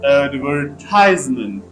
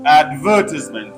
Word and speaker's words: advertisement: For example, the word has stress on third syllable in American English, advertisement. But in British English, advertisement on second syllable.